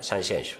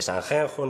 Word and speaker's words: Sanxenxo: Por tanto, isto significa que temos que escribir Sanxenxo e pronunciar Sanxenxo. Nada de Sanjenjo, nin de Puerto Nuevo, nin...